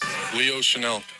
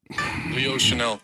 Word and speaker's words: Chenal: Chenal. Chenal. One more time. Chenal.